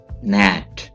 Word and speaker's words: nat: Nat, इस word को आप दो तरीकों से पढ़ सकते हैं, दो प्रोनाउंसिएशन है इसकी, नाट एंड नैट।